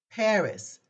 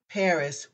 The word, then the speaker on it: Paris: our easy word for this french lesson is Paris that's how we say it in America the word Paris pronounced in the French language is phonetically it's